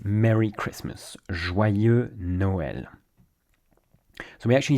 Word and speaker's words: Joyeux Noël: Joyeux Noël is how we say Merry Christmas. Joyeux Noël.